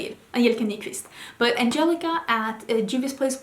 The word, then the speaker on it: Nyqvist: Angelica Nyqvist.